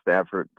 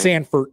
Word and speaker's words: Sanford: Hey, I really think the Stanford, right? Is that how they're pronouncing it, right? Sanford, yeah.